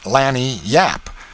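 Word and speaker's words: lagniappe: expressive handy word lanap they pronounce it Lan Yap it is Spanish so they said we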